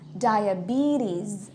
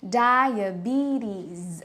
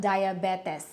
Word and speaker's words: diabetes: matrimony like that next word this word is pronounced as diabetes okay so guys this word is pronounced as diabetes okay not diabetis next word would be this word this is